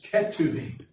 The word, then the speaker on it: Ketuvim: And the last is Ketuvim, which is spelled Ketuvim.